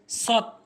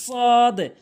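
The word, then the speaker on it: صاد: এরপরে হচ্ছে সৎ ভুল উচ্চারণ, সৎ ভুল উচ্চারণ, সঠিক উচ্চারণ হচ্ছে সদ সদ সদ।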